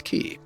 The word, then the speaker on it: quay: million times myself but the actual pronunciation is key all right so uh